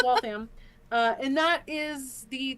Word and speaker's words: Waltham: or lol system um it's wall fam Not Waltham. And funnily enough, uh, L I guess I've always said it wrong. Yeah, it's Wam.